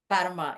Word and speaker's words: Fatima: And so for you, just like me, you have, you pronounce it Fatima? Fatima.